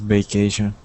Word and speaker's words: vacation: Um, so siphon, uh, remember when we say uh, vacation to pronounce the V, we put our teeth on top of our bottom lip. Okay? We say V. Vacation. Try that, please.